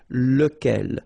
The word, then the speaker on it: local: So remember you've got to pronounce it local. Even if you've got this c okay remember that this phonetically doesn't exist.